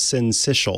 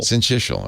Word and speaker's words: syncytial: Well, I don't know how do you pronounce that, The Dr. CDC Mom? says syncytial. Syncytial, okay.